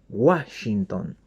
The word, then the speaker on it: Washington: Parece que hacemos, es con W, pero hacemos como una G, Washington, ¿no?